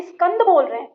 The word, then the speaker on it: स्कंद: इसलिए, आपको यह ध्यान रखना चाहिए कि जब भी आप यह शब्द कहें, उदाहरण के लिए 'स्कंद', तो 'ई' ध्वनि का उच्चारण इस तरह करें कि वह आपके मुंह के अंदर ही रहे, तभी आपका उच्चारण सही होगा।